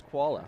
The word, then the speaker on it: Chvala: No, but listen to this last name spelling: CHVALA, and And that's the koala. correct pronunciation is koala.